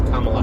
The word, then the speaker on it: Kamala: for me um like i was pronouncing it um kamala harris and it's like no it's kamala harris it's like okay well